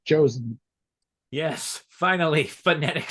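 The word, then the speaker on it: Joseon: oh no it is it is in fact pronounced like a j and like in Korea in Korean and English they both sound like Jay so it's josen yes finally phonetic spelling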